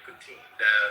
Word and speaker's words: Putin: Vladimir Putin, that's how you say it.